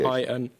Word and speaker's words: Qin: You can spell it if you're unsure of the pronunciation. Q-I-N.